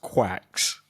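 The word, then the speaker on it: GQuuuuuuX: opportunity to see Gundam It's like gux, but I think it's pronounced like I I I'm pretty sure I heard them pronounce it quacks. Um, and I think The Verge even mentions it in their article uh that it's like pronounced quacks.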